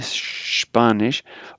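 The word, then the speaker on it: Spanisch: Notice the SP, remember the SCHP, Spanish.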